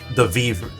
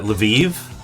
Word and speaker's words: Lviv: There was this guy who came to the zone from the from the Leviv. How do you pronounce that? Lviv the the Lviv region.